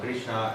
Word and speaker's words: Krishna: And Krishna, just with a short A at the end, is the vocative form of what in the nominative form would be Krishna with an H and a dot at the end.